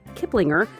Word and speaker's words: Kiplinger: which I think is the correct way to pronounce that. Kiplinger.